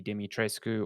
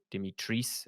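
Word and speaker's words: Dimitrescu: get to see lady lady demi tresco or demi trees as apparently it's pronounced um you get to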